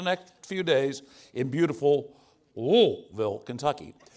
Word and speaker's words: Louisville: So, it is not a 3-syllable word. Don't get caught saying the word Louisville. It's 2 syllables. Louisville.